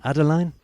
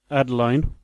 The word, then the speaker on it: Adaline: the age of Adeline Adeline it doesn't sit right Adeline yeah Adeline yeah at least that's how they pronounce it I think you